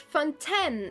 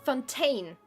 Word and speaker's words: Fontaine: say that Fontan Fountain this is why I say Fontan because for me the the the city or the nation should be pronounced Fontan and not Fontaine I always I don't